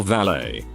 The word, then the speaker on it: valet: t's in Philly or valet. I assume you're an Ireland based on Craig. We definitely don't pronounce valet with a T.